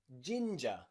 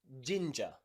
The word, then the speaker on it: ginger: g e r j ginger ginger okay in british my british pronunciation we pronounce this ginger gin ja ginger okay do you like